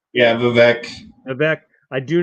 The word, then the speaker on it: Vivek: Yeah, Vivek.